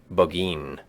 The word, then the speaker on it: Burgoyne: Nutting had a famous foxhound named Burgoyne. He pronounced it Bogeen, which my informant used to borrow.